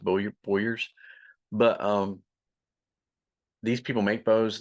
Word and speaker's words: bowyers: So it's pronounced bowyers, but these people make bows or they distribute